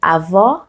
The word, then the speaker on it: avó: Et le masculin de avó, avô. Avô, c'est la grand-mère. Avô, c'est le grand-père. Et vous voyez la différence? Je vais arriver plus proche de vous. Avó, ouvert. Avô, fermé. C'est ça.